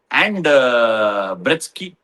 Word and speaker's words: Breetzke: Kohli and Ruturaj played wonderful cricket They complemented each other, but were overshadowed by SA batters like Markram, Brevis, Breetzke. It is pronounced 'Bretz-kuh' right?